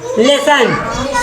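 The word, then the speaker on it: listen: में कहा L silent L आई एस टी एन लिसन लिसन यानी सुनना इ में कहा टी साइलेंट है ना आज की देखो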